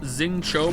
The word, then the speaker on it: Xingqiu: Xingqi is pronounced Xingqiu, by the way.